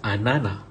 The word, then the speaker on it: ananas: Pineapple in French is anana. Anana. You don't pronounce the S.